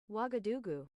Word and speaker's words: Ouagadougou: Pronunciation. Ouagadougou.